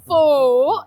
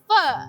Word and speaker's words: pho: It's not pho, it's pho. Pho with vegetables and I'm gonna show it to you. Pho.